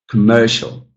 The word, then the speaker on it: commercial: And then the final one, commerce and commercial, commerce, commercial.